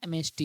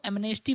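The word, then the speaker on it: amnesty: तो उसे बोलते हैं एमेस्टी। इसको एमनेस्टी मत पढ़िएगा, क्योंकि एम के बाद एन साइलेंट होता है।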